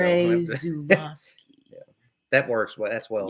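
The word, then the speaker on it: Andrzej Żuławski: Say it like that. It's Polish, so Andrzej Zulawski.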